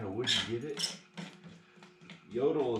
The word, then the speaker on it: Jotul: wood you get it yodel is spelled j-o-t-u-l and these stoves are